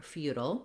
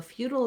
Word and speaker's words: feudal: We also have an alternative pronunciation for feudal. So feudal is one way in American English. In British English, and also another option in American English for feudal would be to do, again, few at the beginning and then secondary stress, futile.